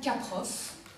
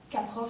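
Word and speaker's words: Kaprow: travaux d'un artiste performeur américain qui s'appelle Alan Caproff. Caproff, ça s'écrit K-A-P-R-O-W.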